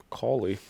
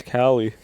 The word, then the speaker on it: Cawley: Cawley. If you take out the W, it's Cali.